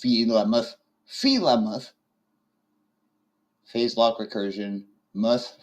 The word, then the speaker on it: Famouth: FTH pronounced famoth.